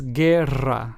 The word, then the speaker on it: guerra: But then we have the word guerra, which means war, and is pronounced as guerra. So as you can hear, I had to roll my R's here since this word has two R's.